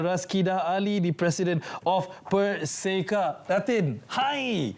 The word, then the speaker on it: PERSEKA: But first of all, did we get the pronunciation correct? PERSEKA. PERSEKA. Persatuan Penggiat Seni Reka Barang Kemas. So it's PERSEKA.